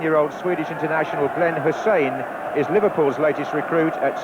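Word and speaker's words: Hysén: in his perfect English that his name is pronounced Hussein and not Tyson but there's no introduction needed for this young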